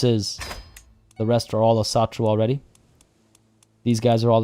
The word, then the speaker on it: Asatru: Icelandic words always put emphasis on the first syllable. So Asatru. Asatru.